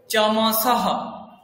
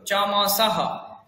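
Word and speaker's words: चमसः: তো বিসর্গের উচ্চারণের জন্য একটা হ এরকম একটা শোনা যাচ্ছে।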